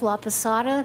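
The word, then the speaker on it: Laposata: Laada, that's spelled L A P O S A T A.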